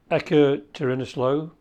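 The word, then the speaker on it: Ekaterinoslav: i think that's a different calendar in our calendar it was july 30th to 31st the midnight hour um at ecker tirinislo that's how you pronounce it russian ukraine daughter of colonel peter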